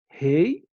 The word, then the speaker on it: rei: Rei, réu. Aqui é fechado e aqui a pronúncia é aberta. Rei, pronúncia fechada, e réu, pronúncia aberta.